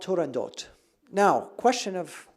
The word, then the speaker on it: Turandot: Puccini's own granddaughter said it should be Turandot because in Italian it would be pronounced Turandotte with a TTE at the end.